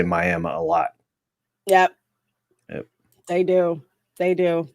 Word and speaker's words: Miami: great-aunt's not crazy yes she pronounced it miama i am that's exactly what you do yep miami i was like no it's miami especially the folks that